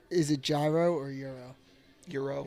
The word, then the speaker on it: gyro: Is it gyro or euro? Euro. It's Euro. What, are they having a debate about that in the chat? No, I'm telling you it's gyro, but I understand that it's euro.